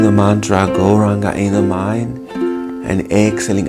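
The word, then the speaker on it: Gauranga: So we'll use one of those names, that is Go-Ranga. It's divided into 4 syllables, Go-Ra-Anga.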